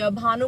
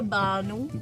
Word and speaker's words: भानु: एंड भानु को तो बानू बोलते हैं.